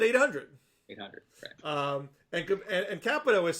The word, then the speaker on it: Capito: the first time that's the first time you've ever pronounced her name right thank you thank you you usually say kapita i know capital capital